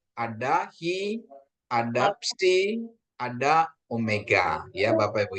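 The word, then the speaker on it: ψι: Terus ada psi, ya, psi, ya. Ini psi. Psi, PS, psi, ya. Pseudo, ya, pseudo. Psikologi, psikologi, ya. Bukan psikologi tapi psikologi. Kayaknya ini harus kedengaran, ya.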